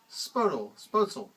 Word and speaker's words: Spoetzl: His name was Kosmos Spoetzl. I'll assume it's like my last name where the O and the E is pronounced like an E.